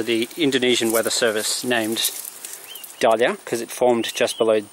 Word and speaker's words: Dahlia: Dahlia, pronounced Dahlia. This is the flower Dahlia. Same spelling, D-A-H-L-I-A.